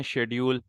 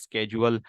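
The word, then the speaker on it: schedule: ایک لفظ ہے شیڈیول، برٹش بولتے ہیں شیڈیول اور امریکنز بولتے ہیں اسکیجول۔ کلر ہے، کلر کی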